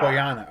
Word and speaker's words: Bojana: Oh, Boyana? Boyana. Okay, it is Boyana.